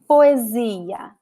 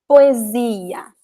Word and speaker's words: poesia: So most of the words that you see like 2 vowels at the end of the word, the stressed syllable in the stressed letter is the second to last vowel, as in this word.